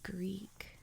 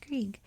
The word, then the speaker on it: Grieg: 120 million us dollars edvard greek which i believe is how you say his name apologies if i got that wrong norway's most famous composer